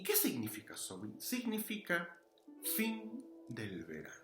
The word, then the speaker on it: Samhain: tenemos la idea del So samaín si lo quieren llamar así pero la pronunciación es so y Qué significa soin significa fin del verano